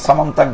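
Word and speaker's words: স্যমন্তক: দন্তীয় জফলা লেখছে, উচ্চারণ করতে কঠিন হয়, এই জন্য সামন্তাক বলি।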